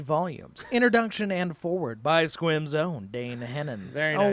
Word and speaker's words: Sequim: Introduction and Forward by Squim's own Dane Hennen. Very Oh, nice. wow. Squim.